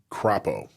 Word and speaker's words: Crapo: And Senator Mike Crapo, I think that's how you pronounce that.